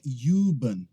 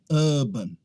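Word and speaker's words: oven: aqui ó Havan Havan essa aqui não é juban é Havan Havan tanto em inglês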